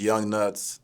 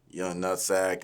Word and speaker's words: Yung Nutz: fucking it up, but it is Young Nuts. It is not Young Nutsack. It's not Young Nuggets. It's not none of that. But yeah, that's how you say it. Just Young Nuts, just spelled different.